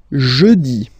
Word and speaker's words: jeudi: Next one, jeudi. Jeudi. Remember, when you combine this E-U, you get the sound E. Jeudi. Jeudi. So I insist a little bit, so make it softer.